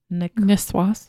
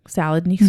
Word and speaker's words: Niçoise: Niçoise? Niçoise. Oh man, I totally butchered that. Niçoise.